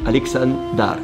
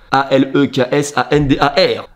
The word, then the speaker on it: Aleksandar: je me rends compte que la calvitie est prononcée. Et mon prénom en serbo-croate, ça se dit Aleksandar, voilà. Je parle pas très bien par contre, hein, faut pas commencer à me... A-L-E-K-S-A-N-D-A-R, Aleksandar.